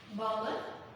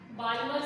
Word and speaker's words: Balmer: Balmer series, okay? L is silent.